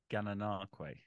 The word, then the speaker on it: Gananoque: How do you pronounce this one? Gananoque.